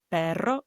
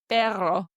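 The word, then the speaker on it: perro: Like you can practice this by saying Spanish words like pero which means dog. Pero or caro caro. Okay. Here I go. Ready? Pero.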